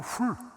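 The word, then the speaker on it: Hur: 벤은 후손이라는 뜻이고 허가 아니고 훌, 아론과 훌의 자손 유다 이야기예요.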